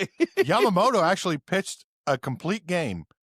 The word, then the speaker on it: Yamamoto: Yamamoto. Is that it? Yeah, I got Okay. Yamamoto actually pitched a complete game.